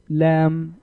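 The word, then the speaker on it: لا: the last letter is lamb Al if it is mixture of two different letters lamb plus Al it's called lamb Al and it is pronounced la la also means no in Arabic so these two letters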